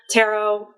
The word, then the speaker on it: tarot: As long as it doesn't rhyme with carrot, we're fine. That extra T on Tarot is silent. Tarot, whatever, as long as it's not tarot, we're good.